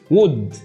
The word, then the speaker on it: would: بص would. تاني would. فعندك هنا عندنا صوت ال O موجود فيه ال O U L D زي كلمة could وكلمة should وكلمة would.